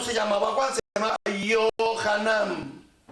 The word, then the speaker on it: Yohanan: Juan no se llamaba Juan, se llamaba Yohanan. Va con Y.